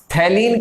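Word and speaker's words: phthalein: Next reaction है थैलीन condensation. कौन सी reaction है, थैलीन कंडेंसेशन। पीएच जो है वो साइलेंट रहेगा, थैलीन कंडेंसेशन इसको बोलेंगे।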